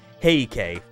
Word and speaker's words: Heike: Or the Heikei, I guess. Yeah, that's how you pronounce it.